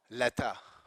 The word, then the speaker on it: letter: So they say ka, letter, right? So the R is not sounded or not pronounced, but this is the rule. It's when the following word begins with a vowel, then this R is pronounced.